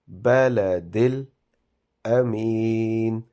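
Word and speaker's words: البلد الأمين: So it is wa hadhal baladil amin. So the alphabets with dhamma, kasra and fatha, they should not be prolonged at all. They should only be pronounced for a second.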